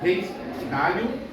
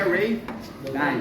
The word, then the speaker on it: Ray Dalio: Mas por causa da pronúncia que nós temos na língua inglesa, né? O A se torna EI, certo? Por isso que é Ray Dalio.